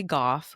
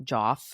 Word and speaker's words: Goff: There is this guy named Trey Goff who's the I really hope it's Goff and not Joff. Um, it's spelled his surname is spelled G O FF.